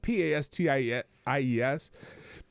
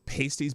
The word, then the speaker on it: pasties: and the best roadside hot from the oven pasties in the state. Now it's spelled P-A-S-T-I-E-S.